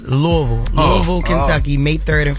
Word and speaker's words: Louisville: think she telling me I said it wrong it's not Louisville it's Louisville Louisville Kentucky May 3rd